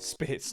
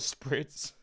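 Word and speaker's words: Spitz: Focus to number seven Mark spits not sprits I butchered that majorly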